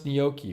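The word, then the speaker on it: gnocchi: usually said dingier pillow paully says pronounce nyoki one of my something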